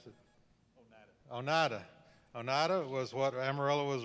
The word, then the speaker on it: Oneida: Oneida, how do you pronounce it? Oneida.